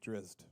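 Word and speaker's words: Drizzt: know the pronunciation of this uh character drizzit or dritzed drizzy so yeah put out like d-r-i-s-s-t drizzed only with a little with a little extra zing in there you see you get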